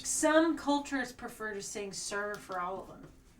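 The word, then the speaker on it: ser: Some cultures prefer to sing "sir" for all of them. It's spelled S-E-R.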